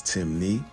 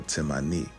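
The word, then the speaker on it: Temne: Despite the various spelling variations, Timni only has two ways of pronouncing it, which is Timni or Timani, and this still maintains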